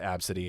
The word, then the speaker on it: Abcde: literally, if you've never heard of that Absidy, it's the name is spelled ABCDE.